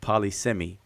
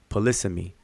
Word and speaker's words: polysemy: um palisami you know and i used to pronounce that all the time polysemi and i've heard people say it paula semi but um it's the correct pronunciation pronunciation is polysemy and and it depends on kind of where